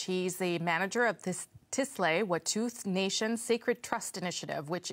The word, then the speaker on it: Tsleil-Waututh: And thanks for pronouncing our nation right. Some people get it confused and call us Sabertooth.